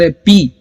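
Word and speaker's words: hope: होप, okay, अगला जो word है वो है होप। सो इसमें भी एच को हम प्रोनाउंस करेंगे, ओ को प्रोनाउंस करेंगे हो, और पी, होप। ओके, लॉन्ग ए साउंड हम यहां पर बोल रहे हैं, ई साइलेंट रहेगा।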